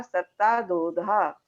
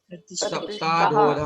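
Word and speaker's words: सप्ताधोऽधः: भूमियो घनाम्बु वाताकाश प्रतिष्ठा सत्ताधोधा। दीपमाला जी आप बोलिए। ये जो प्रतिष्ठा है ना, प्रतिष्ठा, एक मिनट, प्रतिष्ठा में जो विसर्ग है ना उसका उच्चारण भी चाहिए, प्रतिष्ठा सप्ताधोधा। हाँ, ये विसर्ग का उच्चारण।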